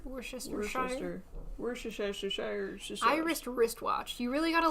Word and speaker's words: Worcestershire: How to Worcester pronounce. sauce? Yeah. Worcestershire. Worcestershire.